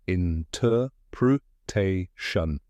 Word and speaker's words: interpretation: In, just like the word in. Ter rhymes with fur. Pr sounds like pr in protect. Te, this is the emphasized part, just like te in tailor. Shun sounds like shun in caution. Now say it with me, interpretation.